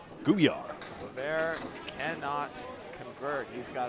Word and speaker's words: Gouillart: Duncan McDougall on the call, joined by Kevin Burns and Greg Gouillart on the sticks. Matt Nichols, hay bale. Like Beauvert's T, my T is silent as well. Gouillart.